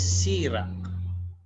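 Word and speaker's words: sirà: As opposed to this one, the accent is what is this? A grave. So the accent here is on the first syllable, the second to the last.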